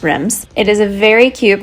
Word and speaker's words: Reims: So this town is actually pronounced Reims.